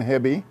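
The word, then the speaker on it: Hebbe: My name is Hebby, H-E-B-B-E, rhymes with Debbie, which is what I tell the kids in school.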